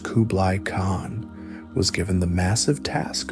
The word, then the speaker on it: Kublai Khan: Kublai Khan, pronounced Kublai Khan, was given the massive task of conquering the